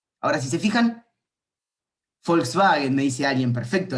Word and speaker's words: Volkswagen: Ahora, si se fijan, Volkswagen, me dice alguien, perfecto. En alemán, por ejemplo, la B corta se pronuncia F y la W se pronuncia B corta.